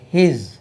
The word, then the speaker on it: his: HIS இது Z என்று உச்சரிக்கணும். ஹிஸ் ஹிஸ் double S போட்டாச்சுன்னா பாம்பு உடம்புல ஹிஸ்ன்னு, அது HIS ஹிஸ்.